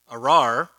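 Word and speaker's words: אָרַר: word uh cursed um arar and you have to roll your ark can y'all roll your r's okay um this is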